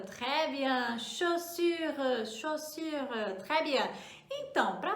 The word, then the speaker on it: chaussure: Ah, anota aí, olha bem a pronúncia, chaussure, très bien, chaussure, chaussure, très bien.